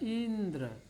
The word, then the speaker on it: इंद्र: प हम विशेष जोर देंगे यहाँ यह है इंद्र, ई पर ज़्यादा जोर देंगे क्योंकि इधर संयुक्त व्यंजन है या संयुक्त अक्षर है, उससे पहले वाले अक्षर पर ज़्यादा बल दिया जाता है।